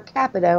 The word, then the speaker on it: Capito: coming back hey Mike and that's Shelley Moore Capito actually capital i've been pronouncing that wrong forever what everybody mispronounce is